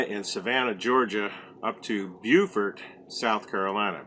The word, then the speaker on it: Beaufort: savannah georgia up to beaufort south carolina beaufort as it's pronounced in south carolina right and at the